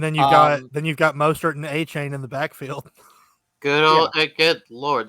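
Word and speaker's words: Achane: He wanted it to be pronounced a Chen. A Chen? Oh, okay. Well, if that's what he's publicly said, then it's going to be a Chen.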